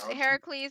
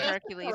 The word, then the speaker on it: Heracles: i think heracles please heracles is the the proper greek pronunciation hercules is the movie pronunciation so if you want